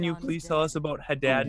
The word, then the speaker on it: Haddad: Haddad is how they say it.